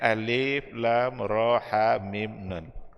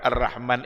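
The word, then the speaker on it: الرحمن: Shallallahu Alaihi Wasallam maka ar-rahman itu bacanya tetap adalah Ar Rahman alamal Quran dan semua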